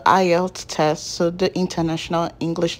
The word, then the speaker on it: IELTS: do you need a elts you guys I just realize why editing I did not pronounce the word correctly it is the IELTS test so the international